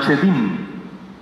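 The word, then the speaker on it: שדים: Pero hay una palabra bíblica que en hebreo se pronuncia chedim.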